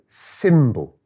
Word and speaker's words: symbol: If I look up here, symbol or symbol, no, symbol.